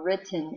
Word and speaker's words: written: So we're going to start with the WR, and then sound out writ ten. Let's clap the syllables first. Writ ten. So we have writ, syllable break, another T, and then N, E, N. Say the sounds.